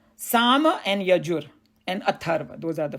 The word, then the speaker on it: Yajur: Yajur, that's how you say it.